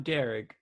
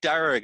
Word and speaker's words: Darragh: D-A-R-A, because the G-H in my name is silent.